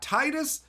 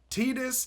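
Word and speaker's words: Tidus: next card we've got Titus tetus depending on how you pronounce it this is one people argue about yuna's Guardian so this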